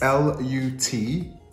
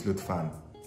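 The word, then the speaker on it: Lütfen: It's L-U-T-F-E-N. Even though it says Lutfan, if he was reading it in English, it'd say Lutfen, but it's Lutfan, just so you know.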